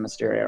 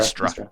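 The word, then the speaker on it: Mystra: Yeah, Okay, we've standing- been discussing if we're gonna go see the High Priest of Mysteria or not. Mistra. Mistra. Sorry.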